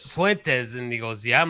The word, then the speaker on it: Fuentes: I think I'm saying his name wrong, but Futines or whatever. Fuentes. Fuentes.